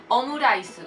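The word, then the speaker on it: オムライス: Omurice, pues ese rice lo pronuncian con rice, con la R muy suave, o sea, no existe. Bueno, ahí en ese caso no lo van a pronunciar como una L, por ejemplo.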